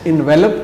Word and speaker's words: envelop: تلفظ ہے انویلوپ۔ اور اگر آخر میں ای نہیں ہے تو پھر یہ لفظ انویلپ ہوگا اور ورب ہوگا، اس کے معنی ہوں